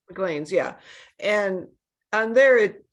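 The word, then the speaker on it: Maclean's: So there's a service called, I hope I'm saying it right, McLean's. Am I saying it right? McLean's, yeah.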